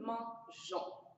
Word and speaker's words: mangeons: On va ajouter un e entre le G et le O qui nous donne une bonne prononciation. Ça adoucit le G. Et on on ne dit pas nousons avec E, on dit nous mangeons. Alors, la prononciation est parfaite comme ça.